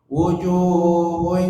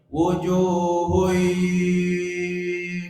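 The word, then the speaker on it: وجوه: Kemudian hadirin di ayat kedua di kata wujuh, ketika tanwin menghadapi ya, masukkan ke hidung tanwinnya.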